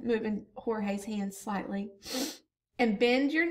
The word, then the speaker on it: Jorge: Hold the bat this way, he said, moving Jorge's hands slightly, and bend your knees a bit more. Now, I think it's pronounced Jorge, but you could say George if you wanted to.